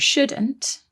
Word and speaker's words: should: one more thing about shouldn't and should is that they contain another silent letter don't they there is a silent l in there s-h-o-u-l-d should that's right we've got